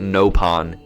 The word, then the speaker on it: Nopon: Napon. Uh-oh. Napalm, yeah. They actually pronounce it Nopon in Xenoblade Chronicles X.